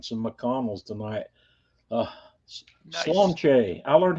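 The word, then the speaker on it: Sláinte: Slonche. I learned how to pronounce that finally.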